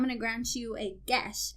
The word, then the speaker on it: geas: Dane's like, I'm going to grant you a gesh. And I looked it up. It's pronounced gesh.